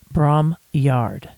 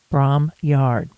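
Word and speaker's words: Bromyard: which is just south of the town of Braum Yard. That's spelled B R O M Y A R D. Braum Yard.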